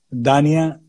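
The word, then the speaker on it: Dhanya: Dania se escribe D-H-A-N-Y-A, Dania.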